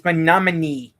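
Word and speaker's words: Mahnomen: It's manamin. She doesn't know how to say it's pronounced manamin lady.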